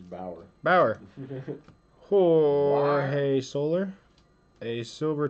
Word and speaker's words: Bauer: Boyer? It's Bauer.